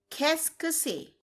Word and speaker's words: qu'est-ce que c'est: The next question is that we are going to cover in this video is qu'est-ce que c'est?